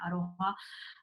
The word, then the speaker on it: aroha: They spell it with an R, but it's very similar. They call it. They say aroha nui or even aroha, and it's like that meaning of empathizing, empathy, and what else?